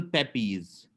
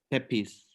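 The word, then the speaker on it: Pepys: including St Paul's Cathedral Samuel Pepes Samuel Pepes uh pronounced pepis n 1633 to 1703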